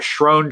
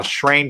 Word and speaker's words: Schroen: And I've been calling it Schroen Train because that's the way it's spelled. Yeah, it looks like it to me. Schroen. But someone said, no, it's Schrain Train. I'm like, oh, okay. So I'm going to say it correctly now.